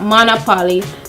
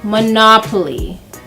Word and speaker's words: Monopoly: We're Jamaicans, we say Monopoly. Yeah? Okay, I was corrected. So it's not Monopoly but Monopoly.